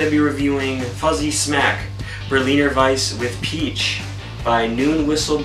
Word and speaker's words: Berliner Weiss: As I stated, we're going to be reviewing Fuzzy Smack Berliner Weiss with Peach by Noon Whistle Brewing. And in fact, I believe that is how it's pronounced in the German way.